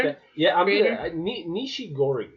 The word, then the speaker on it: Nishigori: The creator was it Atsushi Nigashori? Nigashori, that's the Something director. like that. Yeah, Creator? Nishigori is how I would Nishigori. pronounce it. Nishigori.